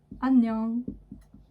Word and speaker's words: 안녕: Quand il est devant une lettre, donc ici, il est attaché à la voyelle, il est complètement muet, on ne le prononce pas.